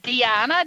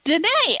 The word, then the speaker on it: Deana: B singer songwriter Christa Denay uh it's pronounced when you look at her name it's Krista and it sounds like Diana d-e-a-n-a but it's pronounced Danae and I'm gonna ask